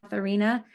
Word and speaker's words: Katharina: In German, so if you pronounce these names in German, it would read Christina and Katharina. The E's would make the A sound.